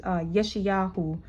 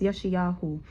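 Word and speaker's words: ישעיהו: Isaiah, Isaiah, which is Yeshayahu in Hebrew. It's pronounced Yeshayahu, right?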